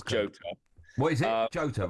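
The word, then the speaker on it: Jota: It's Jotto.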